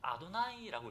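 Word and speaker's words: אדני: 수업 시간에 읽다가 야훼라는 단어가 나오면 야훼라고 읽지 않고 아도나이라고 읽습니다. 아도나이는 무슨 말인지 아십니까?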